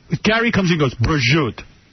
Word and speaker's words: prosciutto: Gary comes in and goes, prosciutto. It's not prosciutto, right? Yeah, no. That's a little on the American side. It's prosciutto.